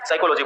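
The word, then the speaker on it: psychology: बल्कि क्या बोलते हैं साइकोलॉजी बोलते हैं है तो प साइकोलॉजी ऐसे पसा ता ये लेकिन इसको बोलते नहीं हम इसका मतलब समझ में आ रहा है इसका फर्स्ट लेटर साइलेंट है मींस ये 100% किसका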